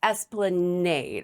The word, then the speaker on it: Esplanade: And it's Esplanade. I think I Esplanade.